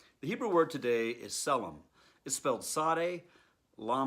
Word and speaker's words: צלם: different shiva and sarah so it's pronounced silane hebrew selim aramaic silane now in genesis it